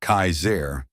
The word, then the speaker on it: Kasar: One man in particular who called himself Kasar, pronounced Kaizair, was especially dangerous.